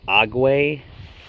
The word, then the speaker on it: Aguei: going to hook this i believe it's pronounced ague folding solar panel up